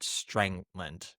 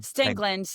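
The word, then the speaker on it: Stangland: was had left because so I saw Scott Strangland. Is that how you say his name? Stingland.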